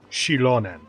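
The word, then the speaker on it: Xilonen: Shilonen. Okay, that's how you pronounce that.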